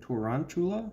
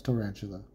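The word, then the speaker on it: Tarountula: Story Tower today junior how do you say that Toronto yeah it's tarantula okay I pulled the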